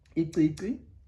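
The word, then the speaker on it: icici: And maybe to give you an example of a word that has in it would be, maybe you'll remember this, iqiqi.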